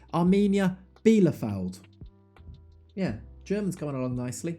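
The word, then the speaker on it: Arminia Bielefeld: points adrift of armenia belafould as i'm told you say that correctly apparently i've been adding some extra syllables into their name which you know i'll accept it i'll try and change armenia bilofeld yeah german's coming along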